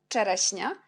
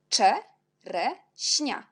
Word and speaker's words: czereśnia: Ensuite, on a le mot czereśnia. CZ, on prononce czereśnia. Après, on a S avec petit l'accent, c'est si. Et NI, on prononce quand N avec l'accent, c'est ni. Alors, le mot, c'est czereśnia.